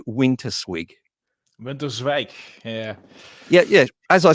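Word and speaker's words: Winterswijk: you come from a town called am i pronouncing it right when i say winter swig yeah yeah yeah as i said winter swig yeah so in winter squeak i was noticing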